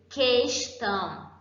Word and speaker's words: questão: Por exemplo, eu tenho como exemplo de dígrafo questão. Por quê? Eu não pronuncio o U, certo? O U e o E equivalem ao som de um.